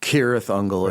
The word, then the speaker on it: Cirith Ungol: Cirith Ungol is the correct pronunciation, right?